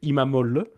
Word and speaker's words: İmamoğlu: la technique, c'est quand tu as un oglu, à la fin, c'est olle.